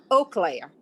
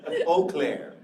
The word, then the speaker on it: Eau Claire: local pronunciation so that's we say eau claire yeah what i call it eclair i'm thinking of the donut right i know it must have been hungry eau claire so thank you for